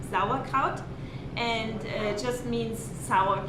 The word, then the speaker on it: Sauerkraut: europe especially in germany and a sauerkraut it's pronounced uh correctly sauerkraut and it just means sour cabbage so they